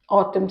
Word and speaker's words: autumn: accident next is autumn autumn season Autumn a u Tu U MN Autumn here n is silent next is abundant abundant